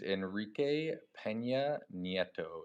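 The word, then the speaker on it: Enrique Peña Nieto: His name is Enrique Pena Netto.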